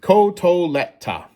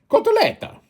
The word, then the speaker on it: cotoletta: Say it with me. Cotoleta. Just imagine Mario pronouncing the word cutlet. Cotoleta.